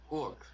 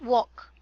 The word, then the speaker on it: work: you read this word work work not walk okay it's work work very good again